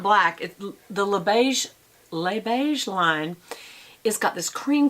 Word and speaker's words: Les Beiges: But you don't pronounce the S's, so it's Le Beige. Or Le is L-E. Lay is L-E-S, so Le Beige.